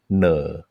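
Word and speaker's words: เหน่อ: in Thai it's called "ne." Is that saying that right? Okay, so there is a word in Thai, ne. It's spelled ho no sala mai ek ne.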